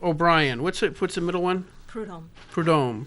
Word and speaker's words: Prudhomme: Prudhomme. Prudhomme. Yeah. I don't think I was pronouncing it right even when I read it.